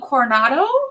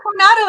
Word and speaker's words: Coronado: of time the Del Coronado award did I say it right no Coronado it means the crown okay operoning and Excellence